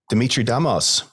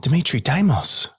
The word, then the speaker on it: Dimitrie Damos: hang on for the ride let's bring on Demitri damos I said it wrong again Dimitri damos that's all right welcome to fysio foundations thanks